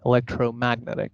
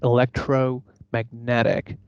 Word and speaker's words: electromagnetic: Unfortunately, a lot of people pronounce this as magnetic, electromagnetic. No, it's electromagnetic, electromagnetic, climatic.